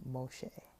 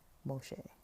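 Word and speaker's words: משה: he in Hebrew uh like Jewish people pronounce Moses name Moshe Moshe not Moses um and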